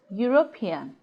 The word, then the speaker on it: European: lesson to this offer we have seen that the yeast sound is a consonant sound and dispelled with letter in U as in Europe eulogy and European that goes to say that European does not begin with a vowel sound remember that what we